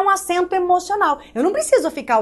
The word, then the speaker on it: emocional: Emocional, também não mora. Emocional, também não. Emocional. A última sílaba é a sílaba tônica.